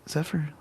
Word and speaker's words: Zephyr: Zephyr. What you got? Rhymes with buffer.